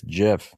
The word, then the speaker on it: Jif: I'm going with Jif. I'm not sure if they were even out by then, but that's what came to my mind. Say it right. It's Jif.